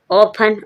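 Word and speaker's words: often: ऑफन जब टी के बाद टेन लिखा हो टी एन लिखा हो जब आप टी साइलेंट रहेगा कहीं लिखा है टी ई और एन तब क्या होगा टी साइलेंट रहेगा एन अकेला बोलेंगे ऑफन ऑफन मींस पराया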